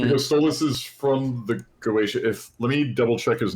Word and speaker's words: Goetia: He literally says during an event, I stole this of the Oz Goetia. They pronounce it Goetia or something? Goetia. Yeah, it's Goetia.